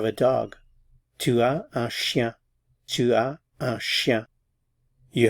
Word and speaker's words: chien: Un chien. A cat. Un chat. Again, notice I'm not pronouncing the consonants at the end of the words here.